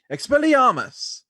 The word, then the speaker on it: Expelliarmus: To say it completely right, you have to say it with slight accent. Expelliarmus. So it stars Daniel Radcliffe, and then also stars this other guy named Thomas Kretschmann.